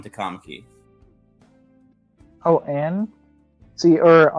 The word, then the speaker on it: Ann: See, or I guess it's On. I don't know. I didn't play the dub, and they said it was On. And then they say it like that in there. But I just said it as An. My head, like I played the sub version. Yeah, it's not anything I'd fight anyone on, but yeah, they pronounce it as On in fucking the dub.